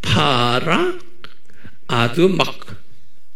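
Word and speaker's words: פרה אדומה: H가 뒤에 있으니까 헉 이렇게 아두막 이렇게 네? 파라 아두막 이렇게 발음 좀 유식해졌죠?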